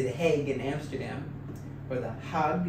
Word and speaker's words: Den Haag: You actually also go right into the midst of, like, say, The Hague in Amsterdam, or The Hague. Is that how you say it? Den Haag.